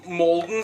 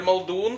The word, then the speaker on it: Maldon: I always use maldon salt. Or "maldon" like we wrongly pronounce it here in Norway.